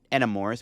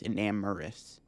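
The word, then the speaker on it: Enamorus: I think I'm finally pronouncing Enamorous right. I always called it Enamorous, but it's Enamorous. Prevent all effects of your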